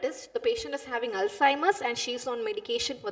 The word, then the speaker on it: Alzheimer: or my viewers is see Alzheimer that is the right pronunciation okay so right alheim so a lot Alim